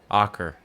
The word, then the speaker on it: Acre: called AER which is spelled acre but it's pronounced AER cuz it's old and Aur is a city